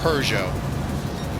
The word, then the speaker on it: Peugeot: But I like the European pronunciation better, Peugeot.